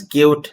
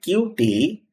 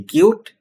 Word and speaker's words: Qt: Qt, pronounced as cute, not cutie, only cute, is a cross-platform application framework written in C++.